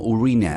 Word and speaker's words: Urano: entre Sí bueno bueno hemos estado pronunciando mal Urano todo este tiempo los astrónomos dicen que deberíamos pronunciarlo como urina as en inglés no tuano Aunque no puedo